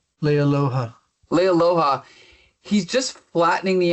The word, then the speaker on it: Leialoha: How do you pronounce his name? Leialoha.